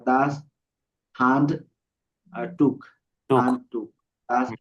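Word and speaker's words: Handtuch: দাস হ্যান্ড টুস। হ্যাঁ না, হান হান। আ হ্যান্ড টুস। টুস না, টুক। এই যে উ আছে, ওর ও পরে আচ্ছা আচ্ছা আসলে খ হয়।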